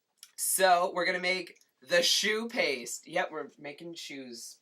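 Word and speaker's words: choux: we're gonna make the shoe paste yep we're making shoes pasted yep to start with some adidas just kidding it's spelled c-h-o-u-x again more french probably also means crusty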